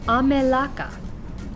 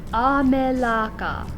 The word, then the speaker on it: amelaka: a native english speaker a is ah so that yields a melaka nice open vowel sounds once again up here in red is how we would say it if we were using all of the bad habits we've learned from speaking southern united states english amelaka don't do that and then your